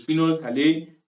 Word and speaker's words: phenol: If you are using phenol remember the pH is silent there. So it's phenol the pH is silent.